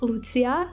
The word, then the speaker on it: Lucia: And fun fact, my real name is pronounced Lucia. It's not Lucia, but in my save file, I'm Lucia, and it literally means light.